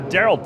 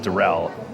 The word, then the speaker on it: Daryl: Okay, Daryl Thompson, not Darrell.